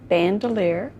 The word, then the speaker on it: Bandelier: If you just say your name and spell it, please. Okay. My name is Bandelier.